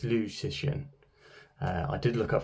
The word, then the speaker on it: Liu Cixin: It's a Chinese name, so the first name is pronounced second, so it's Liu Cixin.